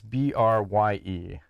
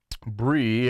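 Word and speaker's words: Brye: pro WMMA fighter named, how would you pronounce B-R-Y-E? Bree. Bree? Okay. I was going to go with Bry, but that would be kind of weird. So I like Bree.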